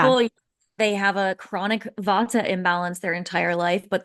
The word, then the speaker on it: vata: people, they have a chronic vata imbalance their entire life, but they actually are more of a pitta or a kapha or whatever it is.